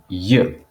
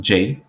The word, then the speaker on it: J: east then you have you it's not j it's you because the j we wrote